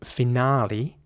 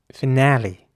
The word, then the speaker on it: finale: a German watch anyways the British English pronunciation is again with an R sound so finale ah and in American English it would be finale so uh with an a sound again finale here's an example for